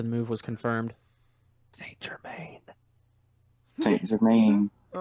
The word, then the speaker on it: Germain: It's Germain. Says German. Does it It's say all about- German? M-A-N, not M-A-I-N. Well, it's actually Germain. Well, excuse me. Transfer to Paris Saint-Germain. Yeah, it's It's all actually pronunciation. Germain.